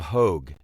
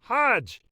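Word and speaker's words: Hoge: ex Steeler named Mel Hodgej. Well, he pronounced it Merryill Hogue and the whole, you know, half the room, the football fans all went Hajj.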